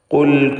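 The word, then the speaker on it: قُلْ: ഖുൽ കുല്ലും മുതറബ്ബിസുൻ ഫതറബ്ബസൂ. ഖുൽ എന്ന് പറയുമ്പോൾ ഖാഫിന് നിസ്ബിയായ തഫ്ഖീം അഥവാ മൂന്നാമത്തെ ലെവലിലുള്ള തഫ്ഖീം ഖാഫിന് നൽകേണ്ടതാണ്.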